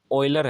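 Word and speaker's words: Euler: पढ़ सकते हैं लेकिन यह असल में इसकी जो प्रोनाउंस है वोह बुक में उसने की हुई है कि यह ऑयलर्स है ठीक है और यह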